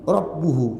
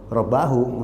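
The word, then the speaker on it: رَبُّهُ: Mau nggak mau dibacanya wa kallamahu Rabbuhu, yang menunjukkan bahwa Allah berbicara kepada Musa. Kecuali orang Indonesia yang nggak paham bahasa Arab sama sekali, maka ya bisa aja dibaca wa kallamahu Rabbahu, namanya dia nggak bisa bahasa Arab.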